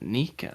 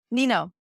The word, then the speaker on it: Nino: that is all right it's not Nika I don't think uh and I see no I know that's why like that's how you spell it Nino Nino yeah I know be better